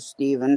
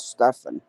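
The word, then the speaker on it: Stephen: Some pronounce it Steven, some pronounce it Stefan.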